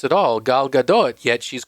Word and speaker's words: Gadot: pronounce at all, Gal Gadot. Yet she's called Gal. She's called, instead of Gadot, she's called Gadot because obviously if there's a T at the end, it must be French.